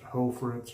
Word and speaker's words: Hoffritz: is hoe for its h-o-f-f-r-i-t-z i believe is how it's spelled and pronounced hoe fritz or hoffritz the uh first and